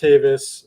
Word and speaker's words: Tavis: my name is my last name is tavis it's pronounced davis um and uh yeah